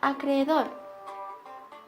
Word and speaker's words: acreedor: En la palabra acreedor podemos ver un hiato porque existen dos vocales iguales. Es una palabra aguda ya que lleva acento en la última sílaba, pero no lleva tilde